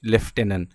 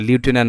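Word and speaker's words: lieutenant: এবং বড় শব্দ আসবে কঠিন শব্দ আসবে সেটার বানানটা তোমরা কিন্তু অলওয়েজ মাথায় রাখবে যেমন একটা বানান আছে কি লেফটেনেন্ট বা লিউটেনেন্ট বলে যেটাকে ঠিক আছে তাহলে এভাবে তোমরা সবাই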